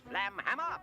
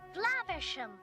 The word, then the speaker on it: Flaversham: Yeah, there's a running joke about Basil mispronouncing the last name Flaversham. Flamhammer. Flaversham. Whatever. Miss Flanchester. Flaversham. Whatever. Miss Flangerhanger. whatever. Which I guess is cute, except for the fact that he clearly pronounces it correctly later.